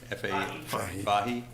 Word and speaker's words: Fahy: Is it just pronounced Fahy? Fahy.